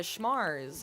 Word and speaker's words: Schmars: a night out at the Schmars, as I'm calling them, rhymes with cars, full of places with schmalcohol, and had a grand time.